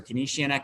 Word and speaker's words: Keynesian: you might follow uh keynesian economics or canesian economics as some you know pronounce it as i do too uh that's kind